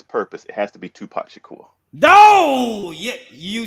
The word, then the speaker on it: Tupac Shakur: I'm always going back and forth on the '90s rappers, but for this purpose, it has to be Tupac Shakur.